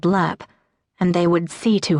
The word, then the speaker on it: Lepp: It was no more than a minute later that the bus driver called out, "Lepp," which he pronounced Lep as in leper, and Maura gathered her